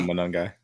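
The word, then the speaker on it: Monangai: His name at uh his name is Kyle, but the rookie Kyle Manungai Manungai.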